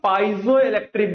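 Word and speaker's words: piezoelectric: दो तरीके से लोग प्रोनाउंस करते हैं इसको पिज़ोइिक बोलते हैं या फिर पाइजोइिक बोलते हैं। तो मेरे हिसाब से जो करेक्ट प्रोनाउंसिएशन बच्चा वो पाइजोइिक है। पाइजोइिक राइट बाकी आप क्या प्रोनाउंस करते हो? It depends on बट पाइजोइिक इज़ the current pronunciation.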